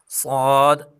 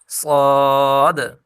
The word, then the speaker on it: صاد: ضاد صاد اور ضاد کے تلفظ میں دال کو حرکت یعنی ہلا کر پڑھیں گے، یعنی صاد، لاسٹ میں دیکھیں دال آ رہی ہے نا، اس کو ہلا کر پڑھیں گے، د، صاد، ضاد۔ اور باقی جو حروف